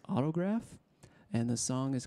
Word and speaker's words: Autograf: Check out Autograph. It's spelled AUTOGRAF. That's Autograph.